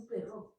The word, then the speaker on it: perro: Un perro. Très bien. Tenéis un perro. Et on insiste bien sur le fait qu'il faut prononcer perro con le double R, parce que la phrase